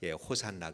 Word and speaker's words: 호산나: 구원해 달라고 하는 말이고 또 호시 하나가 호산나 가 된 것은 히브리 마리의 헬라 식으로 발음을 하다보니까 호산나 가 된 것입니다 그곳에 모인 그 많은